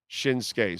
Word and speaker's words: Shinsuke: Nakamura huh shinsuke oh so it's not pronounced the way it looks shinsuke so the U is uh silent okay all right that's